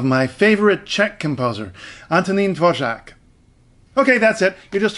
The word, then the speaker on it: Dvořák: Today I'd like to tell you about the pronunciation of the name of my favorite Czech composer, Antonín Dvořák.